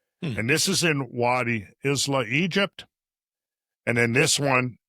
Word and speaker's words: Isla: I think it's Isla. Thank you. Isla. Isla. Yep. That makes sense. Mm-hmm. Okay. From now on, for the rest of my life, I'm going to know how to pronounce that word.